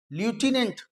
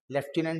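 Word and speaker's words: lieutenant: जो बोतल खोली जाती है दैट इज शैंपेन लूटने लूटने बोला जाता है लेफ्टिनेंट बोलते हैं स्पेलिंग अलग है बट in American accent they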